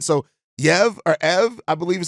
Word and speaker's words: Yves: talk about is uh ev's I believe I believe no EV I believe the S is silent I looked it up